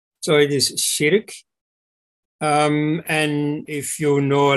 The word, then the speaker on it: Širk: The pronunciation is Sirk, not Shirk, as the English word shirk for, you know, to avoid something. So it is Sirk.